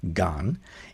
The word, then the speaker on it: 干: It's pronounced gan in Sino-Korean.